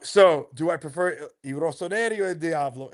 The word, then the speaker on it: Rossoneri: Rossoneri.